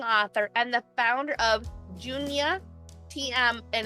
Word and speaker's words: Junia: And did I pronounce it right for Junia? Junia, yes.